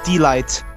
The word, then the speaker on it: Delight: pronounce it yes uh just say d light delight wow what a pun